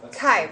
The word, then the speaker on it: chi: what's your pronunciation? He. Huh? Kai.